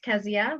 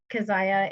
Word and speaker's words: Kezia: i'm good okay uh my name is pronounced kezia but kazaya is a common it's nothing no absolutely no issue there are many people with the exact same spelling as mine and this depends on the pronunciation when i lived in west africa burkina faso it was kessia and that's how they used to pronounce it so exactly no issue but i pronounce it kezia and um i will